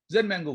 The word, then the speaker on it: ZenMango: ZenMango was equally bad, I thought. Then Raka said, Dad, hold on. ZenMango, Zen rhymes with, S-E-N, your last name, like I got it.